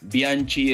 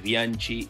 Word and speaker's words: Bianchi: la decisión de decir, bueno, todos se pronuncian en español, entonces Bianchi, el director técnico de Boca, es Bianchi y no Bianchi, o Bocchini, la máxima